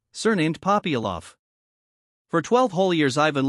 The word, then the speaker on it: Popyalov: The accent falls on the second syllable of Ivan, on the first of Popyalov.